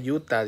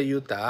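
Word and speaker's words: Utah: sido sucio Estados Unidos dice se dice Yuta dice Simón deberías de aplicar para la visa canadiense primero Dios Y si te la dan Aquí te esperamos dice se pronuncia Yuta Ah bueno perdón perdón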